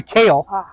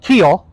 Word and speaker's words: Kehl: pull exclusive with Mary kale now it's pretty it looks like Keel but it's pronounced like the vegetable like the vegetable kale so every announcer for